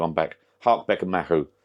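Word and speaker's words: Mahou: they do a now let me pronounce this right Maho mahu mahu mahu apparently it's mahu I've got a mahu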